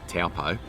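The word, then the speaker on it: Taupō: didn't it rotorua where now aussies would probably say bad pronunciation taupo that's the correct way of saying it some amazing lakes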